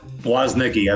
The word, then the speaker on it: Woznicki: I feel like I just changed it from when I just asked you how to pronounce it. You say it. Brad Woznicki.